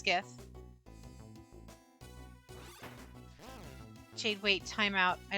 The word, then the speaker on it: GIF: um give me those is it pronounced gif or jiff it's gif jade wait time out